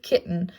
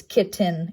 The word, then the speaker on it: kitten: It's shown as a full-fledged word here with kitten, but it's not pronounced as kitten, it's kitten, where that pause comes in, and that's that glottal stop where the squiggle comes in.